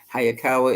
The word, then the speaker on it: Hayakawa: the year 1939 sakawa hayakawa is spelled exactly like it sounds how anyway so on